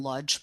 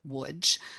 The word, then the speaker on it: Łódź: My father, Jacob Lederman, was born and raised in Łódź, Poland. If you're Polish, you would pronounce it Łódź, but we always said Łódź.